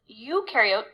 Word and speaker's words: eukaryote: So one way I like to tell students to remember this, eukaryote, the U rhymes with do, they do have membrane-bound organelles, and prokaryote, the pro rhymes with no, and they do not have membrane-bound organelles.